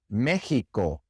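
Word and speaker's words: México: But there are a lot of place names, especially in Mexico, where the X is pronounced like an H in English, Mexico.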